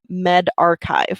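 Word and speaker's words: medRxiv: it's indexed on uh Med archive is how you pronounce that um so that's the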